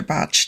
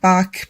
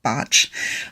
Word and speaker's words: Bach: Botch did. And it looks like Bach, but he was Welsh and it's pronounced Botch.